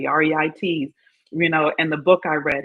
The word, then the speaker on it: REITs: I pronounce it correctly, REITs, and the book I read.